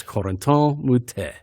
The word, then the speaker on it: Corentin Moutet: You're saying it wrong. It's Corentin Moutet.